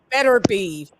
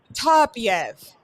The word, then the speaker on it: Beterbiev: It's not Beterbiev, Turbiev.